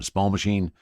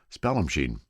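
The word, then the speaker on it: Spallumcheen: all my entire life Spell machine is how it is it said now it's pronounced and it's only because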